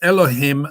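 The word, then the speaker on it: אלהים: means an image and eloquem actually says elohim i'm just saying it allah came because you're not supposed to pronounce god's name but the hebrew pronunciation is telling elohim the image of god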